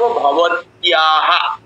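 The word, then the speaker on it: ভবত্যাঃ: আর মেয়ে লোক হলে কিভাবে জিজ্ঞেস করব, ভবত্যাহা, তয় জফলা আকার বিসর্গ থাকবে। বিসর্গ যদি শেষে থাকে তাহলে স্বরবর্ণযুক্ত হয়ের মতো উচ্চারণ হয়, যেরকম হরিহি, ধৃতিহি, ভবত্যাহা, এরকম।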